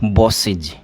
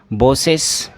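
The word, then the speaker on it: bosses: जब प्रोनाउंसिएशन आप करेंगे तो प्रोनाउंसिएशन क्या हो जाएगा इसका, बॉसेज, बॉसेज। ये नहीं है कि आप बॉसेस ऐसे बोलो या फिर बॉसेज ऐसे बोलो, नहीं, आपको इज करना है लास्ट में। बॉस है, ई एस आपने जोड़ा है तो इस ई एस का जो प्रोनाउंसिएशन है वो इज होगा, बॉसेज, बॉसेज।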